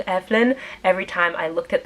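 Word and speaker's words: Eibhlín: a while to wrap my brain around saying Evelyn every time I looked at that word and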